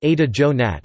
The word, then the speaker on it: Ada Yonath: Yonath, Hebrew, Yuant pronounced Ada Jonat, born the 22nd of June 1939, is an